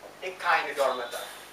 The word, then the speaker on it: echinodermata: E-C-H-I-N-O-D-E-R-M-A-T-A, echinodermata. It is pronounced as echinodermata.